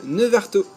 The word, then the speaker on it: Neuvartault: Et ben nous voilà arrivés à la première ville, Nevarto. Oui, vous avez remarqué, ça y est, j'ai réussi enfin à prononcer correctement cette ville.